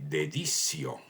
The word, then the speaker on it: deditio: en una relación de dedicio con Roma. ¿Dedicio? Así es, dedicio. En latín esa palabra se escribe con una T, es decir, deditio.